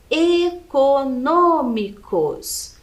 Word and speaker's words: econômicos: pra gente observar né econômicos então a última sílaba cos penúltima sílaba mi e antepenúltima é um no Ok econômicos então é a antepenúltima sílaba aqui é a mais forte e ela é acentuada